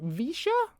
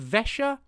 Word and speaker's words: Vesha: Or would you like it sort of Vesha? Visha? We happy with Visha? More E in Vex. Oh, so Vesha.